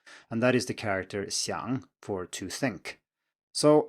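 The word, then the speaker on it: 相: you look at xiang, it is pronounced exactly the same as xiang, but with a different tone.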